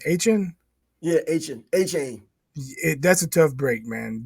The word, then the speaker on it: Achane: Yeah, Achane.